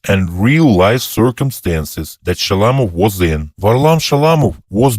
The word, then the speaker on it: Shalamov: Shalamov, not Shalamov. The second syllable is stressed.